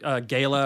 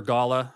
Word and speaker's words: Gala: uh I think there's a Gayla or Gala however you want to say it gay there's a there's